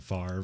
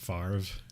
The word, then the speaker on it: Favre: i always like brett favre for you it's not it's not actually brett favre because they are the r comes after the v it'd be favre oh okay but everyone